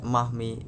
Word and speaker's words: Marmee: of their strong-willed mother, affectionately called Marmee, pronounced Mahmi, in 19th century New England.